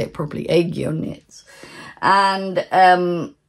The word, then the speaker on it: Aegyo Knits: I'll say it properly, Aegyo Knits.